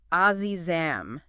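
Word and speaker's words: عزیزم: And uh I noticed the official charts article even made a point about the pronunciation for those wondering. It's Azizam, just like Ed sings it in the clips we've heard.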